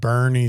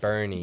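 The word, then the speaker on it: Boerne: But there's green here, which is spelled odd. Bernie spelled odd. Bernie.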